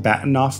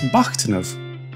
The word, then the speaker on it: Bahtinov: out of the way we're all kind of pronouncing batoff wrong in English the name comes from an